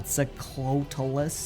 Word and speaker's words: Quetzalcoatlus: And with a flap of my wings, it's called I can't pronounce it. You're fine, you're fine. Quetzalcoatlus.